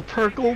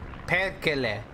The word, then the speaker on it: perkele: Perkle, Perkle, motherfucker. You say Perkle? Oh, he didn't even see him! That's not how it's pronounced at all whatsoever. I don't care. Perkele.